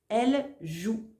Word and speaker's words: elle joue: réponse est elle joue attention ici il n'y a pas d'accent sur le E final donc on ne le prononce pas elle joue allez on continue le